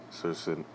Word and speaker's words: circenses: Panem at Circenses, I might be saying it wrong. Circenses, that's how it's pronounced in Latin.